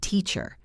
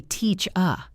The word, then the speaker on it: teacher: Look at the word teacher. It ends with ER. But we do not say teach-er. We say teach-a. The end is a schwa.